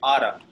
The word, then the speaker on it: ought to: Ought to. Ought to. Okay, that's how it looks, but it's actually pronounced oughta.